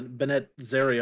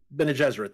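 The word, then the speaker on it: Bene Gesserit: the the sisterhood i never remember how to pronounce the bennett zarya or whatever whatever it's called they're doing uh ben jesuit thank you very much they're doing a tv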